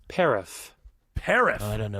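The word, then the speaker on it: paraph: First of all, should I spell it or do people get mad? Autumn gets mad if I don't. No, paraff.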